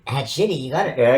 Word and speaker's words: Hadchiti: Hadchiti? Hadchiti, you got it. Yeah, because you said it's the past tense of diarrhea.